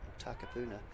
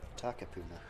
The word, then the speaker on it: Takapuna: So we are back live again, and Hillcrest are trying to sort of get that disc, or Takapuna are looking to sort of get that disc off their line.